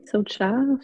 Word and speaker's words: Saucha: Tu peux nous expliquer ce que veut dire tout ça, les niyamas et la philosophie Socha, si je le prononce bien? Oui, Socha.